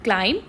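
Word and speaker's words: climb: सी एल आई एम बी क्लाइम। D silent होता है।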